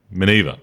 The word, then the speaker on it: Miniver: Miniver. Miniver, yes. Miniver, that's right. Yep. So we had to work out the pronunciation a few times.